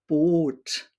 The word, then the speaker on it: Boot: And for the long sound, Boot, which is a boat in English as well.